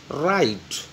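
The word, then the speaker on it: write: राइट, इसमें W silent होगा, डब्ल्यू इज the silent on राइट।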